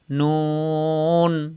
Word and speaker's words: ن: লাম লাম সহজ লাম নয় নম্বর মাখরাজ জিহ্বার আগা উপরের তালুর সঙ্গে লাগাইয়া নুন স্বাভাবিক উচ্চারণ নুন জিহ্বার আগাটা উপরের তালুর সঙ্গে লাগাবেন নুন সবাই খেয়াল করুন নুন